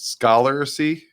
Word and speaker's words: Scholarcy: The next one is Scholarcy. So Scholar with CY at the end.